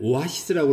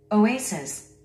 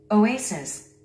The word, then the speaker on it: oasis: 우리 한국인들은 이 단어를 오아시스라고 합니다. 그런데 원어민들은요? Oasis. Oasis.